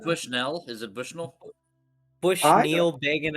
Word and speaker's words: Bushnell: It's But it's French. Bush Noel. You know, it's like just You're pronouncing it more like a U, Kate, right? You're saying Bushnell. He Bushnell taught the as opposed to children how to Bushnell. gamble. Gotcha, right. I'm putting the emphasis on the first half, whereas Alex likes to put it on the second half, and I'm pretty sure I'm right.